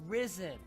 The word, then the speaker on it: Ryzen: Nobody is going to pronounce that Ryzen. It's Risen.